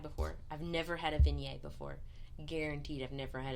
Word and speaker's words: Viognier: It's Viognier, in case you're wondering. It's an A on the end. V-N-A, Viognier.